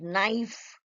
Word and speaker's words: knife: Now, common silent letters. K. What do you think of K? Teachers, you all should know this before you teach the children, like knife, no, knee, knock, knock, who's there?